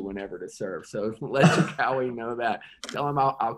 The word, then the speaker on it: Jokowi: Jokowi, yeah.